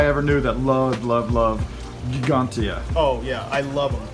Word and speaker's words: gigantea: Yeah, there's 2 giganteas right there? Yeah, there's 2. It's pronounced gigantea. Gigantea. Not J. There's no J.